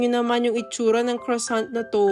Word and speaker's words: croissant: And grabe tingnan niyo naman 'yung itsura ng croissant na 'to. Or sabi nga nila sa French daw ito is quissant.